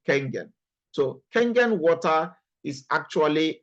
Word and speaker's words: Kangen: So when you get to hear Kangen water, not Kengen, some people pronounce it as Kengen, it's actually Kangen.